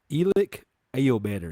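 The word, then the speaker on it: Elic Ayomanor: But Elic Ao Manor, is that you say his name?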